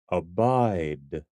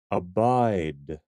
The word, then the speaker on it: abide: word is pronounced abide abide abide emphasis on the second syllable abide look at these